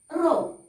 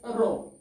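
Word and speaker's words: rho: this letter pronounces as row okay this letter pronounces as row okay row is known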